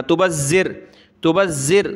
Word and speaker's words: تبذر: کے ساتھ ملائیں گے، ذال کو سخت تو کرنا ہے لیکن زبان نکالتے ہوئے اس کا تلفظ ادا ہوگا، تبذر، اس کو سخت نہیں کرنا، یعنی سخت تو کرنا ہے تشدید کی وجہ سے لیکن اس ذال کو زا نہیں بنا دینا، زا نہیں پڑھنا، تبذر تو لفظی چینج